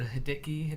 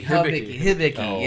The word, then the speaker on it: Hibiki: Hideki? Hideki? Is that how do you pronounce it, or what is it? What? Dickel? No, the Hideki. The Dicky. The Hideki or the Oh, the Japanese whiskey. Hibiki.